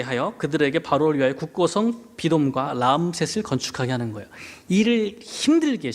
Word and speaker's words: 비돔: 그러니까 비돔. 비돔은 원래 발음은 피르 아툼이에요.